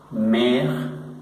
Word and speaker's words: mère: Por ejemplo, mère, que quiere decir madre, mère. Solo pronunciamos estas tres primeras letras.